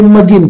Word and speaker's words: McGinn: McGinn okunur.